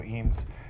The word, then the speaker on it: Eames: my name is eem uh I don't uh fault him for the uh lack of American pronunciation because most people in America don't know how to say my name my last name right so uh no big